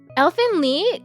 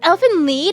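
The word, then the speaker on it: Elfen Lied: And I got there and uh Elfin Lee, it's Elf Lead like Leader.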